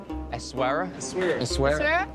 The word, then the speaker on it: Essaouira: How do you pronounce where we are? Essaouira. Essaouira!